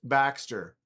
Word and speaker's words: Baxter: Yeah, Luft Baxter. And it's spelled BXTR.